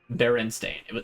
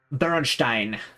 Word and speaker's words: Berenstain: Berenstain. It was Berenstain. Berenstein. If we're gonna go like the full route with it, because, you know, it's a Germanic pronunciation.